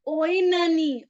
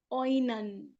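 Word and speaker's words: Oenone: This line was written by Tennyson in the work Oani. Oan oan the lover of Paris. Remember Oan? O E N O N E. Oan the dramatic monologue by Tennyson.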